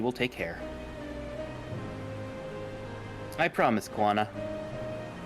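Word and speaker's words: Koana: care I promise kuana I don't think the first a is pronounced it's pronounced but it's kind of like a ghost quana kind of more like that yeah it's not Moana but it's like quana but also the problem is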